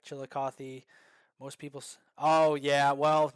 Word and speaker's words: Chillicothe: it's so nice hearing someone not from Ohio pronouncing Chillicothe correctly like Chillicothe most people's oh yeah well you know I'm